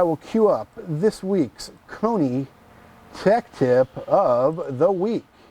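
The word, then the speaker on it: Koni: cue up this week's Kony tech tip of the week hi this is league rhymes with coney shock-absorbers we recently did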